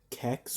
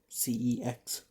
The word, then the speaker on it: CEX: I got 3 DVDs from my local CEX or CEX, whichever you want to pronounce it.